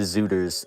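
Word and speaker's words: Szuters: of them and also zooters is spelled root it's s-z-u-t-e-r-s and not just like Z I don't know that's weird weird pronunciation can you make a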